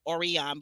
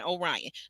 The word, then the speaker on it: Orion: Orion I'm sorry Orion it it spelled like it looks like it would be orian but it's Lauren and Orion now Lauren is third